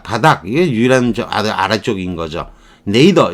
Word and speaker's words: nadir: 네이더 이렇게 발음을 하는 거예요.